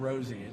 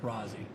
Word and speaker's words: Rosie: Brad Rosie. It's pronounced Rosie, not Rozzy.